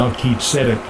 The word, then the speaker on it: Melchizedek: Melchizedek.